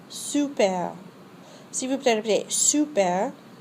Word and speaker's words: super: The vowel sound represented by the letter U does not exist in English. To say super, first say the French word si, then round your lips as if to whistle and say si with rounded lips. Now say super.